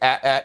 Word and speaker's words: AT-AT: IG Kevin says they say at in Empire, not AT-AT. Ha, but to each their own. I think it's funny how it's said in different ways. Yeah, I don't know why, but at always sounded stupid to me, so I say AT-AT because it is the initials.